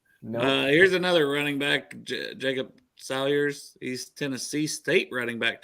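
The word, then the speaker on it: Saylors: on you anymore here's another running back Jacob Salyers East Tennessee State riding back to the Bengals hmm never heard of him sailors with a C J s-a-y-l-o-r-s is how they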